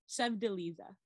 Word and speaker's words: Sevdaliza: And Prelude by Ali Azimi, and Lamp Lady by Sevdaliza. That's very close. Yes. Okay. How would you say it? Sevdaliza. Okay. Yes. Oh, I see where it should have a. Okay, I see the syllable.